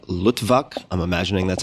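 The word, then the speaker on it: Luttwak: coup d'etat a practical handbook by edward n lutvak i'm imagining that's how you pronounce it l-u-t-t-w-a-k and it was originally published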